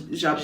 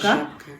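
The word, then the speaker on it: Żabka: And then Zabka, it's written as Zabka but pronounced as Zabka. Zabka, yeah.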